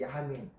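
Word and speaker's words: ימין: 오른쪽이라는 뜻은요, 히브리어로 야민이라고 됐어요. 야민. 야민이라고 읽어요.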